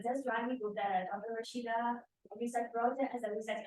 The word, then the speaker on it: Rashida: which is Rashida, which is Arabic name.